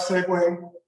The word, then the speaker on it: segue: Liked segue. Liked go. Segue is one of those words that you look at how it's even spelled and it's like, is that really how you pronounce that? But it is.